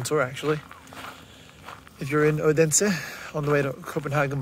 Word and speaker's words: Odense: So yeah, I also found out this place is not pronounced Odense. It's actually Odense.